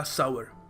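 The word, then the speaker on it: sour: फिर देखो सही तरीका है इसको कहने का सावर द कैंडी वास स्वीट एंड सावर सर नहीं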